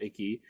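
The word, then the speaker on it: Ackie: Naomi Aki, that's how you say it, Aki, has the energy and the heart and the passion of Whitney down pat.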